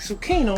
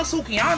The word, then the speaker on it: Sukihana: I want to take zucchini on the day homie zucchini I want to put my face in that oh Mr White sir I I think it's pronounced silky it's okay no sukiana I don't give a